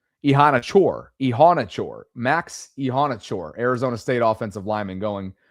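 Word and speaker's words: Iheanachor: Let me make sure I get this pronunciation right cuz we did it last night on the collective. Max Ehanachor. Ehanachor. Ehanachor. Max Ehanachor.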